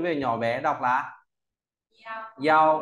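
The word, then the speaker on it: 幺: Tiếp theo ta có bộ yêu, nó về nhỏ bé đọc là yao, ở lớp đọc to này yao.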